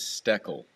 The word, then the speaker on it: Steckle: Max dockle stokal stucco the correct pronunciation is steckle stackle third time's charm